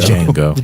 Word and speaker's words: Django: Django. Yeah. D is silent.